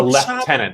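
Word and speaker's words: lieutenant: There's a left tenant. That's what the Brits say.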